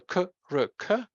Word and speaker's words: Krk: vowel in a syllable, like the famous Croatian island Krk, the k, r, k, Krk, and there's no vowel in this syllable, but it's still a syllable in this language.